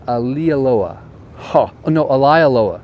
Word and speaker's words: Maalaea: got the official how you say it it's Ali Aloha Loa so remember the word lie a lie Aloha